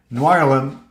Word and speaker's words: Noirlem: Well, one's in sign up, like NOIRLEM. Is that how you pronounce it? How are you pronouncing NOIRLEM? Yeah. Noir plus Harlem equals Noirlem.